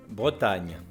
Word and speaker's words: Bretagne: And again, I can't even pronounce that, that is another hard French word for me to pronounce, but my husband says it much better. - Bretagne.